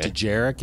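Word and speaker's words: Dejarik: I think it's Djarik. Djarik. Okay. Djarik is how it's pronounced.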